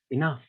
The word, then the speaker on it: enough: So, for example, the word enough, the word enough. What happens to that GH sound at the end? It becomes silent, or thorough, or like thorough, or through.